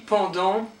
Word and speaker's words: pendant: Then pendant, don't pronounce the T, pendant.